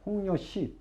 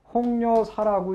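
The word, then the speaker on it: 홍려시: 여기 홍녀시. 요건 홍녀사라고 읽으면 잘못 읽는 겁니다. 시입니다.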